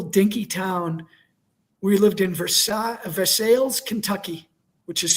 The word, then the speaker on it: Versailles: We lived in Versail Versailles, Kentucky, which is spelled like Versailles, which is not too far from Lexington.